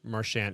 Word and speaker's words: Marchand: Even his buddy, and I'm pretty sure I said it right there, Marchand.